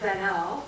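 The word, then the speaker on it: Baniel: It's like Daniel only starts with a B and that um kids beyond the limits.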